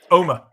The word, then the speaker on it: Omagh: Omagh, it's pronounced. Omagh.